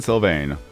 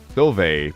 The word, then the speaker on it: Sylvain: Sylvain, but the N is silent.